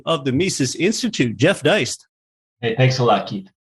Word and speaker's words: Deist: It's an honor to welcome in President of the Mises Institute, Jeff Deist.